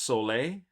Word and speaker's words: Sol: And I believe Quinn, it's even though it's S O L, it's pronounced sole.